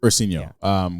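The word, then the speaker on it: Ursinho: Ursinio, which is Portuguese for little bear.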